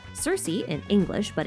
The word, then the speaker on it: Circe: See, there's a witch in Greek mythology that we call Circe in English but in Greek her name can also be pronounced ker-ki.